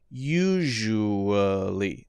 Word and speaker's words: usually: So SHU and then or either one. And then li. Usually. Now that's a very light vowel syllable there.